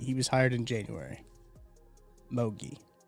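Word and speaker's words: Mougey: Mogi.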